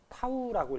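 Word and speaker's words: τ: 먼저 식부터 적어 주면 문자를 요렇게 쓰는데 요거 읽을 때는 타우라고 읽어 주면 되고 요게 이제 돌림 힘.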